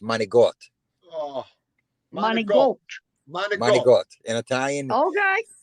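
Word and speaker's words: manicotti: It's not pronounced manakotti. It's pronounced managot.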